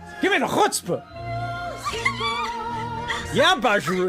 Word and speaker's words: Bajiru: Yeah, Bajiru is how you say it. I don't even know. No, you actually said it right, buds!